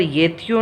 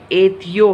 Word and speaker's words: एत्यो: फिर यहाँ पर येत्यो नहीं है, एत्यो है, अहम अपि एत्यो।